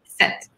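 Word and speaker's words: sept: s e p t we don't pronounce the P it's just like set like right set yeah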